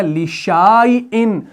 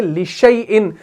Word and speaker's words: لِشَيْءٍ: ہیں وَلَا تَقُولَنَّ لِشَيْءٍ، ہم یہاں پر اس الف کا تلفظ نہیں کرتے، ورنہ یہ بن جائے گا لِشَيْءٍ، ہم پڑھتے ہیں لِشَيْءٍ، لیکن اگر لِشَيْءٍ پڑھ رہے ہیں، شین کو یا کے ساتھ ملا رہے ہیں، تو